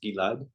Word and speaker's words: Gilad: But my name is pronounced Gilad. Um, and you can also call me Gil or or or whatever you want.